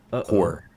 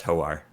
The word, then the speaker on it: Hoar: Yeah, it's Hoar. Again, shout out to Forgotten Realms Wiki. Oh no, it is just whore.